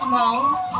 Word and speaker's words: Hmong: pronounced Hmong, with the H silent, means free people.